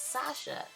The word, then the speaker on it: Sacha: I mispronounced the name in my last video. It's Sasha.